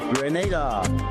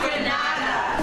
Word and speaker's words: Grenada: But, I heard in English it's called Grenada. Say it right. Grenada. Say "right". Grenada. That's right. Grenada. There we go. Say "right". It's Grenada. It's not Granada.